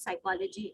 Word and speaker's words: psychology: sound good right so the right pronunciation of the word psychology is psychology psychology so how